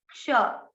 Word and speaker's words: क्ष: इसमें आपको आधा क अंदर से निकलना है और श गले से आएगा आधा क, और श षटकोण बोला जाएगा, क्ष, क्ष।